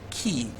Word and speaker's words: key: So the digraph EY in the word key is pronounced the long E.